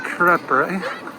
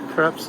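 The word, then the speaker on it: crêpe: They have Le Crepe. Yes, it's crepe, not crepe.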